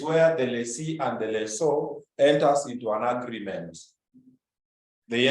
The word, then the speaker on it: lessor: Anyway, the correct pronunciation, which some people disagree, is lessor. People from Nairobi say Lisa.